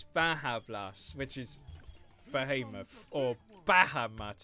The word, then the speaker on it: Baja Blast: So when you do Badger Blast, it's not Badger Blast, it's Baja Blast, which is Behemoth, or Bahamut as people call it.